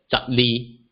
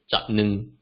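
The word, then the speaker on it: 十二: So for the number 12, it's pronounced as zap li versus zap nung, while the number 22 is pronounced as li zap li versus nung zap nung.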